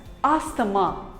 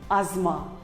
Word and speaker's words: asthma: us call it as asthamma but wrong it is not asthama it is called as asma the t and h is silent asma here is another